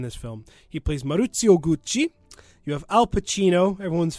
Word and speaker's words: Gucci: And I hope you realize that I will not in any way be saying Gucci. I will be saying Gucci. Of course. Gucci. That's how you're supposed to pronounce Gucci.